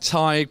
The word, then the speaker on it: Tadhg: Once I got past the introduction of how to pronounce his name. For those who don't know, it's Tiger without the I quickly moved on to some jokes. Unfortunately, I was unaware of Tadhg's sexuality at this exact